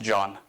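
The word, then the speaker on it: جان: Persians a lot it's a three-letter word spelled Jan pronounced John and when you tell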